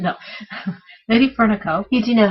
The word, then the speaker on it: LadyFernaco: No, Lady Fernico. You do know how to pronounce it.